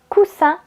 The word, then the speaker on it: coussin: Par exemple, vous avez le mot cousin avec le son Z et le mot coussin avec le son S.